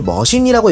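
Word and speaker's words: 魔進: 마신은 한자 그대로 마신인데 일본어론 이거를 머신이라고 읽다 보니 말장난으로 섞인 그런 컨셉인 듯해요.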